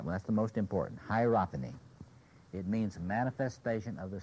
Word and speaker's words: hierophany: He's talking about the sense of, here's the word, hierophany. Hierophany. Can anybody spell it?